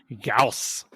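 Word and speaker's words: Gauss: I know it's wrong I know it's German the correct pronounce would be gaus riceful yeah oh is that is that why oh okay I like both of them I really like Goss rifle gaus rifles sound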